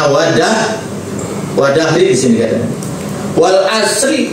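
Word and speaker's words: وَالْعَصْرِ: Wadah wadahri di sini katanya wal asri dibacanya wal asri majrur. Enggak boleh dibaca wal asru domah. Enggak boleh dibaca wal asra karena waunya di sini wau qasam, wau sumpah.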